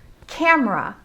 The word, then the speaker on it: camera: look at another example camera well just like i just said we make it often into two syllables instead of how it's spelled as three syllables we could say camera